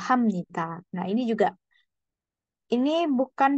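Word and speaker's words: 합니다: malah dibacanya miem ya Jadi bukan hapnita tapi eh hamnita Nah ini juga ini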